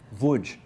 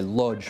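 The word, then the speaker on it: Łódź: Wuj. You sort of say it like that, okay. Which English people say lodge, which it isn't, it's wuj.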